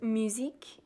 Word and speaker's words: musique: On the left side, I have my music spread, which is pronounced musique in French, and I drew some